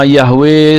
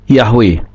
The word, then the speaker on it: Yahweh: Yod he wau he Ini dibaca dengan yahwe nah ini yang kita mau selidiki bersama Apakah dasar berpikir mereka itu benar bahwa Yod he wau ini bisa dibaca dengan pengucapan yahwe kita lihat dulu dasar